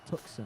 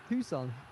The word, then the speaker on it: Tucson: What, you can't have a silent C. No one in English is allowed to have a silent C. I don't know. Tucson. No. If the C is silent, it's after the S. But it's before the S.